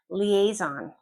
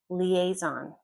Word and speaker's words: liaison: Liaison. Liaison.